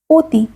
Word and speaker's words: অতি: অ বর্ণের ও উচ্চারণের কতগুলো উদাহরণ হলো অতি। এখানে অ এর উচ্চারণ ও এর মতো হয়েছে।